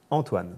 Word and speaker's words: Antoine: Antoine, but how do you pronounce it? Antoine.